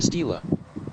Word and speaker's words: estela: Estoy hablando de una estela maya y entonces la palabra cambia que no se dice st May stila se dice stila stila.